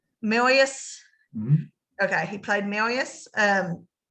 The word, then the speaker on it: Marius: Then you got Eddie Redmayne, who played Marcus. That's how I'm saying his name. I know it's pronounced a little bit different. Marius.